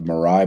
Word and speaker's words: Mirai: So I'm going to skip over the last story about the Mirai botnet. I think that's how you pronounce it.